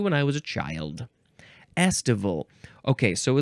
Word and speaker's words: estival: And now we're going to go on to estival. Estival. Estival. It's like festival without the F.